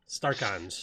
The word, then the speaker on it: Starcon: starchon star cons yeah starcons oh i'm pretty sure it's star cons like archon star and yeah i i